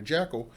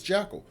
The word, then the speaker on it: Jekyll: started to get adapted people had changed the pronunciation to what you know phonetically it kind of is so ever since the 1930s adaptation of the story and where they pronounced it Dr Jackal they essentially destroyed all